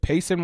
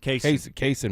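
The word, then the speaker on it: Cason: Is it Pacin Wallace? Is that how you say it? Kase Wallace.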